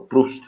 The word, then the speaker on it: Proust: É o Proust, né? A pronúncia.